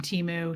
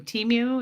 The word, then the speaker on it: Temu: I was to say, Geoplanet Jane, I've never shopped from Temu. Temu, is that how you say it?